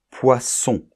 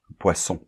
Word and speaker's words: poisson: S entre deux voyelles donc de s entre deux voyelles ça va être le S sourd de poisson hein poisson et un S entre deux voyelles un seul s là ça va se prononcer un S sonore poison qui est la chose